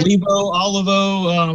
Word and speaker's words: Olivo: Olivo? Did I say it right? Olivo.